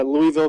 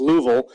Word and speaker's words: Louisville: uh letting me know it's actually pronounced louville um so forgive my